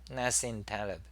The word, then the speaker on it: Nassim Taleb: dislike yeah Nassim Taleb is that how you pronounce his name Nassim Taleb yeah and he also blocked me you know